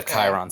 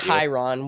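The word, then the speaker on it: Chyron: shirem partner with us please if you could pronounce their name right i'm sure they would like tyron whatever believe it or not i accidentally said that and they were like it's chiron you know yeah cause i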